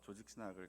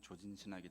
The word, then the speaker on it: 조직신학: 장신대에서 조직신학을 가르치는 송용원이라고 합니다. 발음을 정확히 안 하면 조진신학이 되기 때문에 조직신학을 가르치는 송용원이라고 하는데요.